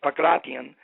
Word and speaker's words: pankration: In 1993, the Greeks said, hey, look, let's bring pankration back, or the way the Greeks pronounce it is pakration, and let's come up